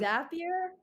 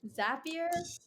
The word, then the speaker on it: Zapier: is is that a thing like straight from zapier what's it called automate that wait zapier wait how do you spell that ga p-i-e-r so there are integrations that